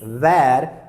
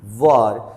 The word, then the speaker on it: were: They always say that it is where but this is not the correct pronunciation. The correct pronunciation is were.